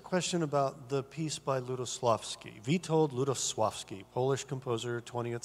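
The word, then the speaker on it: Lutosławski: The only person on the entire planet, other than in Poland, who pronounces it well, like Ludosławski, and nobody really knows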